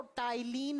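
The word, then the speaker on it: ptyalin: है अब आप बोलोगे मैं स्पेलिंग में तो पी से लिखा है बेटा स्पेलिंग में पी से लिखा जाता है जब प्रोनाउंस करते हैं तो टाइलिन बोला जाता है इसे तिल माइलेज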